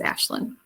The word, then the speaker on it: Aisling: I know it's spelled like Aisling. It's Gaelic, but it is Ashlyn.